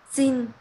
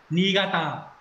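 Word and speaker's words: 新潟: xin Không, không xin, cái này nó không đọc là xin đâu. Niigata.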